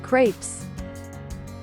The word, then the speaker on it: crepes: Crepes. Like grapes but with a K. Crepes.